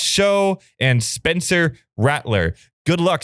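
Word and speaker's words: Shough: means they're going with Tyler Shug, pronounced show, and Spencer Rattler.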